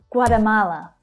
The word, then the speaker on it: Guatemala: Guatemala, Guatemala. So we've got 4 syllables here and the third one is stressed.